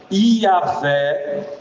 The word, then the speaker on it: Iavé: A pronúncia exata, como já disse, se perdeu, mas a forma Iavé ou Javé são mais próximas do hebraico original, enquanto Jeová é uma adaptação ao longo da história em português, popularizada nas traduções da Bíblia.